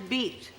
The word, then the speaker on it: Bette: lot of people here call you bet I think in America it's Betty isn't it mostly Betty and well no sometimes it's beat beat yes be I don't like that very much oh beat Davis do